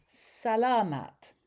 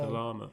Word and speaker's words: salamat: Sala um Salamat. Salamat po. Salamat po. We keep on saying Salamat. Salamat. Salamat. Salamat. So, the the emphasis on the a.